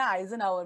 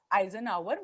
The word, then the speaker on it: Eisenhower: यहाँ पे दूसरी टूल है, एक मैट्रिक्स है, इसको हम कहते हैं आइजनहावर मैट्रिक्स।